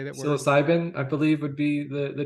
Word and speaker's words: psilocybin: Psycholabins or whatever how do you say that word? Psilocybin, I believe, would be the term you're looking for.